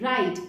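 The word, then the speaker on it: write: आर आई टी ई राइट इसमें W silent होता है और इस राइट का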